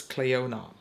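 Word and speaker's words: Clionadh: all ready that the the D in the end is not pronounced you do not say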